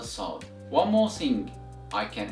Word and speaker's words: ص: of the tongue should be raised or elevated, and that gives you the sound of the letter Sod.